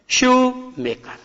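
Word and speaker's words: Schumacher: शूमेकर। अब बच्चों प्रश्न ये है कि इसका प्रोनाउंसिएशन क्या होगा।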